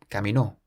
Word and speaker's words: caminó: But then if we place an accent on the O, caminó. This means he walked, so it changes the meaning of the word.